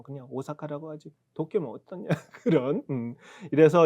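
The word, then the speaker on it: 大阪: 그 때문에 오가 장음이 한 박 두 박 겸에 사카 가는 건데 그걸 우리 오사카라고 하잖아요. 그다음에 도쿄 마찬가지고. 이걸 한글로 그냥 오사카에 발음할 때 오사카, 도쿄.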